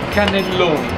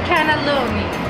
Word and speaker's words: cannelloni: the C okay watch in the camera how pronounce canalone canalone okay I like that now the canalone I